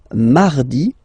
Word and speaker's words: mardi: So you can hear that you don't pronounce it that strongly, this R. Huh? Mardi, mardi, okay? You don't need to go too deep like mardi, no, no, no.